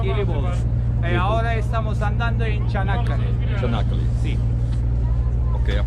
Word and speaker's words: Çanakkale: Ahora estamos andando en Çanakkale. Çanakkale. Sí. Ok, a pronúncia é Çanakkale.